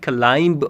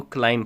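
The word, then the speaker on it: climb: यहां पे dear friends इसको कभी भी क्लाइंब मत पढ़ना। इसको क्लाइम पढ़ना। ये बी जो है यहां पे साइलेंट है।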